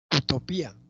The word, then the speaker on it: utopía: Utopía, utopía, este es hiato acentual. La I tiene mayor fuerza que la A.